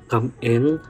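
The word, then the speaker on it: cảm ơn: Come in parang come on pero dapat emphasize niyo siya in two words.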